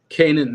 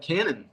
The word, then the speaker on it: Kanan: Kanan is how I pronounce Kanan. it. I talk to my friends and they turn out pronouncing it something different. I don't. I pronounce Like, it Kanan. People say Cannon.